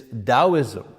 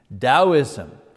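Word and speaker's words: Taoism: The first of which is Daoism. You know, you pronounce the T like a D. Daoism um uh that comes from China.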